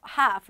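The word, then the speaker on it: half: 없어 라고 적어 주죠 아닙니다 이것은 영국 이들 미국이든 애의 소리가 묵음 처리가 됩니다 무조건 하하 하프 라고 소리 내 주셔야 되요 앤하우스 나무엔 하프 나와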